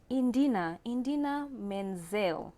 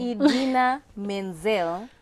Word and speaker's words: Idina Menzel: Indina Menzel. Wow. It's already a wrong. Name wrong. Idina Menzel sings Let It Go 20 times in the Let It Go from Frozen.